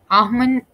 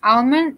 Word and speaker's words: almond: Almond is the nut. So we might end up saying this as almond, but even though it's spelled as almond, it's not pronounced like that. It's pronounced as almond.